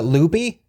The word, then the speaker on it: Lupe: then Scott's little sister spelled like it would be Lupe you know like the you know Hispanic kind of name but they pronounce it loopy so his sister ly